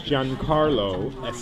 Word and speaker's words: Giancarlo: yes giancarlo how about that it's good that's how you pronounce my name but everyone in america says